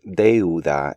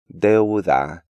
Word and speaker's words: deuda: English speakers tend to insert a yod sound between the E and U in this word, pronouncing it like Europa, and they almost always break up these words into deuda and neutro.